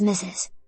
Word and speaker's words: Mrs.: Today, the only standard accepted pronunciation is Mrs.